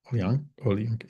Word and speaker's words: Olayinka: Olayinka.